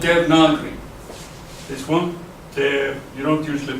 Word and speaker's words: Devanagari: It's called Devanagari. This one, you don't usually pronounce it, you say Devanagari, but it's spelled Devanagari, but it's pronounced Devanagari.